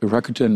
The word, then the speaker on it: Rakuten: she is the vice president clinical development at Rakuten medical I hope I do pronounce that name the right way yes absolutely